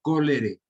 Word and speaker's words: cholerae: Cholerae se escribe y se pronuncia cólere, que se ubica en el intestino del paciente.